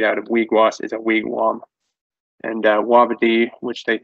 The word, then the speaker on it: wigwam: if you hear a wigwam it should be pronounced wigwam that's that's how we say a house it's